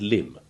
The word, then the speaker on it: limb: the same but aren't, is climb and limb, which you will remember from the section on the silent B have respectively the long I1 and the short I1 sounds.